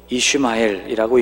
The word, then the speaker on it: 이스마엘: 이스마엘이라는 이름도 있죠. 이슈마엘이라고 읽는 이 이름은 샤마와 엘이 결합된 또 다른 형태의 이름입니다.